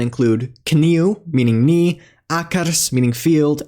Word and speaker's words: kniu: Unlike English, it must be pronounced word initially when before consonants like N. Examples of words with this sound include kniu, meaning knee, akars, meaning field, and ik, meaning eye.